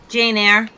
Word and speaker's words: Eyre: Jane Eyre.